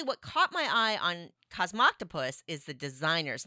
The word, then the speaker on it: Cosmoctopus: games and it's cosmoctopus okay cosmoctopus I'm pretty sure that's how you pronounce it so Cosmo octopus right yeah okay and